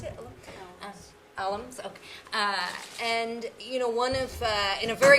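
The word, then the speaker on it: Allums: Is that how you pronounce it? Alums, okay.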